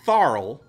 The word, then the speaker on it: Tharl: Patrick Warburton plays Tharl, rhymes with Carl.